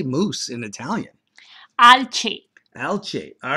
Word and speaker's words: alce: Alce.